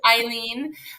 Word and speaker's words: Hailyn: We're catching up on all the deets of Miss Hailyn. That's how you say her name. Thank you, TDK. He spelled it out, Hailyn. So it's Hailyn.